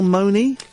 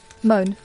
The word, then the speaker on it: Mone: And how do you pronounce her name? Michelle Money? Moan.